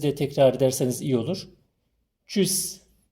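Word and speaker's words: Tschüss: tekrar ederseniz iyi olur Çüs t s c h Bu dört harfi Ç gibi okuyacağız o şekilde telaffuz edeceğiz Almancada Ç harfi yok ama bu dört harfin beraberi yan yana olduğu zaman Ç gibi telaffuz ediliyor ikincisi bistan üçüncüsü de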